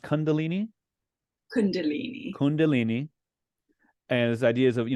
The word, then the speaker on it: Kundalini: And of course, a great way to end the book is it pronounced Kundalini? Kundalini.